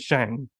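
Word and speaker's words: Tsang: quite work yes Shang it's spelled TS a n g which I think is Shang but like um I hope I'm getting that that correct um yes because he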